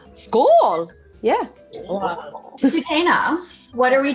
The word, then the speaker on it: Skål: that how do you say cheers in swedish school school school yeah superna what are we choosing to slash